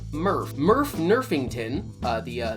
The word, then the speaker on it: Murph: introduces its first mascot murph which even though it's spelled differently i'm going to be pronouncing the same way i pronounce nerf nerf the leading foam